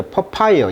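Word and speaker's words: papaya: 그 다음에 파파야란데 미국식 발음은 이제 퍼파이어, 이음절에 있어요. 그래서 퍼파이어, 그러니까 파파야라든지, 그 다음에 이제 affirmation.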